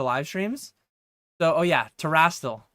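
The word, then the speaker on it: Terastal: So, oh yeah, Terrastal. So I've said Terrastal Festival before, and I've had people like, no, that's wrong. That's not enough letters. That's not enough syllables. Terrestrial or something.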